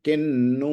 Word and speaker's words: किन्नु: अब आपको समझ में आ गया होगा कि न अगर हो और उसके पहले ऊपर विसर्ग हो तो वो उसका उच्चारण किम न हो के किन हो जाता। किन्नु मही कृते, मही कृते ही बड़ी है।